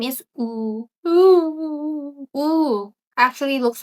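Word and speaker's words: ㅜ: His name is Ooh.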